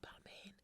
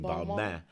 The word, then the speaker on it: Balmain: like, no, it's not Balmain. It's en français. You say Balmain. Yeah, Balmain. You don't pronounce the N. It's Balmain.